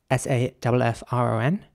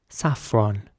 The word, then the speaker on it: saffron: The next word is spelled S-A-F-F-R-O-N. And in British English, it would be saffron. Saffron.